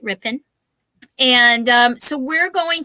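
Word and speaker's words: Ripon: twisted towns oh yes rip in wisconsin i said it right right rippin and um so we're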